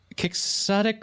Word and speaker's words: quixotic: would you say it I would either say kicks attic or quixotic really huh that's weird